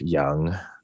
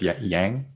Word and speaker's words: Yang: Are you actually going to tell like people who intro you up, like phonetically spell your name so that they'll say Young instead of Yang?